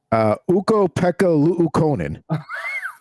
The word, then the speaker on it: Ukko-Pekka Luukkonen: Ukko-Pekka Luukkonen.